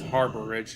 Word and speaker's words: Arbor Ridge: Guess Harbor Ridge is actually how it's pronounced, but whatever.